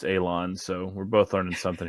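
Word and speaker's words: élan: the consensus Google pronunciation is telling me it's pronounced Alon so we're both learning something here today okay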